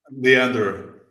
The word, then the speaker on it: Leander: Today we have I hope I'm pronouncing your first name right. Is it Leander or Leander? Leander.